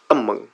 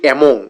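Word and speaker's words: among: ওকে, দেন আম্মাং, আম্মাং। আমরা বলি অ্যামং, এটা ভুল উচ্চারণ, হ্যাঁ?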